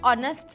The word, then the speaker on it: honest: it's also used for words start with a silent hitch for example an honor an hour an honest man so boys and girls